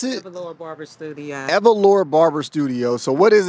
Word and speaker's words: Evalora: Okay, so right now we are at, how do you pronounce it? Evalora Barber Studio. Evalora Barber Studio.